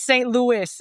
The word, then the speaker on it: St. Louis: So, it's St. Louis. If you're going to like, you got to make it sound very American.